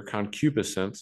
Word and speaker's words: concupiscence: Then we have this long word here, concupiscence is the way that it's pronounced.